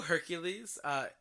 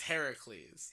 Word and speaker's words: Heracles: Did you know Hercules is the Roman pronunciation and is in fact the Roman demigod? Oh, really? The Greek demigod that did all the acts of Hercules and everything is Heracles. Heracles. Yeah, it's spelled Heracles.